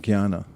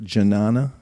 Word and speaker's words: jnana: What's a word in English that comes from jnana? To know. Is that why it's spelled so funny? Yes. As jnana, everyone looks at janana.